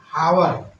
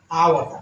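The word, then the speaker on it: hour: इसको पढ़ेंगे हावर ये गलत हो जाएगा। इसको पढ़ेंगे आवर आ गया तो यहां पर एन का हुआ।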